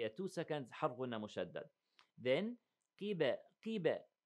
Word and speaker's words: قبلة: Then فلنولينك قبلة ترضاها. Now فلنولينك. We have 2 seconds two seconds حرفنا مشدد. Then قيبة. Listen. قي. Right? Not قب. No. So don't make it, you know, heavy all the way.